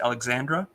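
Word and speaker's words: Alejandra: against Alexandra Alexandra lion even though it was spelled with a j instead of an X so it still but it was pronounced Alexandra so sure yeah um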